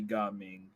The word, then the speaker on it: Gaming: His name is Gaming. Yeah. Unless it's supposed to be pronounced in a Mandarin type way, then it'd be Gaming.